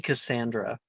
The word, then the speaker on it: Cassandra: It's supposed to be Cassandra. Cassandra. Not Cassidy. It's fine.